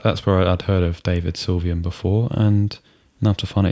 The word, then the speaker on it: David Sylvian: think DAV syan yes cuz I often mispronounce and say David sane that's David Sylvian and I've heard of